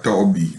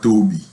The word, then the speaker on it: Toby: I have to correct the pronunciation of our storyteller, Tata Toby, not Toby.